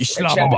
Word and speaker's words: Islamabad: Islamabad.